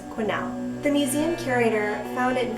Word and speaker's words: Quesnel: It's spelled in an interesting way and it could be pronounced a lot of different ways, but I'm going to assume that it's Quesnel.